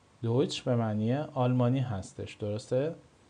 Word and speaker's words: Deutsch: ت اس سه ها دوستان این ترکیب در زبان آلمانی صدای چ میده. صدای چ میده. حالا من این چ رو به انگلیسی زدم براتون. مثل چی دوستان؟ مثل دویچ. دویچ. دویچ. دویچ به معنی آلمانی هستش.